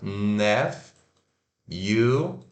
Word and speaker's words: nephew: Então, né, se escreve Nephew, não, então nephew, mas se pronuncia, ó, sílaba tônica, nephew. nephew, Isso aí.